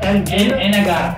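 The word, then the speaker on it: Anegada: Anagata.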